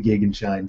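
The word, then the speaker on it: Gegenschein: the anti-solar point and I check the pronunciation of that two or three sites agree that the German pronunciation is the gig and shine so before people tell me I'm pronouncing it wrong that that is the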